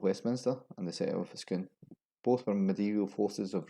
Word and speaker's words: Scone: This Perthshire town is often pronounced as Scone, as in cone, or Scone, as in lawn. It should be pronounced as Scone, like spoon.